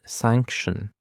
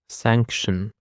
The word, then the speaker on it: sanction: And this is sanction. Sanction. The stress actually is on this first syllable sanction.